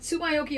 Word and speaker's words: Tsumyoki: Is it Tsumyoki or Yoki? What works better? Whatever you can pronounce better. First of all, am I pronouncing it right? Yes, you are.